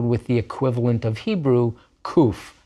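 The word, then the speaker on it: קוף: Nowadays it's pronounced just like a letter K, just like a kaf with a dagesh.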